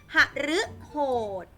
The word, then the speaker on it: หฤโหด: เป็น เสี่ยง หรือ ค่ะ หฤโหด หฤโหด ออก เป็น เสียง หรือ อมฤต อมฤต อัน นี้